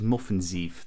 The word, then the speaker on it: Møffenzeef: So you actually pronounce it Moffenzeef.